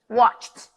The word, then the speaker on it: watched: verbs in the past I go from the con to the tea straight I don't say the e I don't mention it so I'm gonna say